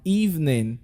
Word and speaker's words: evening: We have another word like evening. Can we say evening? Yes, in that word, the letter E there totally disappears and you're not pronouncing the word.